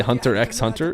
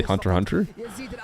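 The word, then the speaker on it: Hunter × Hunter: know about anime cuz I didn't say hun ex Hunter even though that's how I used to say it but apparently you can't that's not how you say it you just say hunter hunter so there you go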